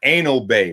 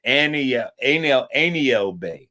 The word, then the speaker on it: Aniel Bay: Not Anal Bay. My bad if I pronounced it that way. It's Aniel Bay.